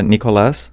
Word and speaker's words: Nicolas: it so it's uh it's uh Nicolas because in Spanish we just make the a sound stronger Nicholas uhhuh that pretty